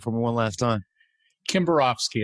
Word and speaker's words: Kimbarovsky: me one last time kimborofsky it's common pronunciation kimborowski all right sorry about